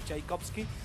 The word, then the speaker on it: Tchaikovsky: Con T o sin T, da igual cómo se escriba y de todas maneras se pronuncia igual, se pronuncia Tchaikovsky.